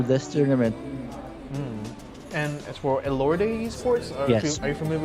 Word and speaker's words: Elorde: I think it's spelled E-L-O-R-D-E. So I'm assuming it's pronounced eLord. Or Elorde. Elorde. Yeah. Oh, And okay. if that's a Philippine team, that's Elorde.